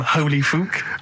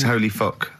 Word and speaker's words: Holy Fook: Please, can we have more Holy Fook? You're not pronouncing it right, Steve. I know. I was just a bit edgy there. It's Holy Fuck, the little Chinese fella.